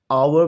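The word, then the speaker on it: hour: फिर ऑनर में H silent है, आवर में H साइलेंट है और नॉलेज में K साइलेंट है।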